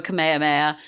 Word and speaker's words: Kamehameha: Goku's children go 10 didn't learn how to pronounce it properly and so he doesn't use the Kamehameha wave he uses the kamehame wave so his attack is